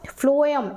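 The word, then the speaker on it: phloem: और फ्लोएम का मतलब फ्लोएम, एफ आ रहा है ना, तो याद रखना एफ, वैसे एफ नहीं होता, पीएच होता है, लेकिन आप फ्लोएम प्रोनाउंसिएशन पे जाइए तो फ्लोएम मतलब फूड,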